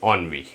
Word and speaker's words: ennui: Friends next word है हमारे पास ENNUI, और इसका प्रोनाउंसिएशन होता है फ्रेंड्स ऑनवी।